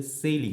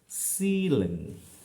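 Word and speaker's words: ceiling: সেইজ, হ্যাঁ, বা সেইলিং, আসলে সেইলিং নয়, হবে কি সিলিং। দেখো সিলিং।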